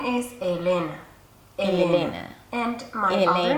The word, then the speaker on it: Elena: Now, the other two syllables are pure vowels. The beginning is E and the ending is A. I would turn them into a schwa. Elena.